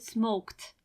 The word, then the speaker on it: smoked: just add D smoked and you pronounce it smoked lift smoked I hope you paid attention it is not live it it is not smoke it or something like that you don't pronounce it as it you pronounce it as T smoked lived arrived asked in